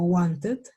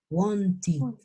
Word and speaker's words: wanted: Esas palabritas que terminen en estas dos letras se van a pronunciar con id. Es decir, que estas dos, esta ed se va a pronunciar como una id.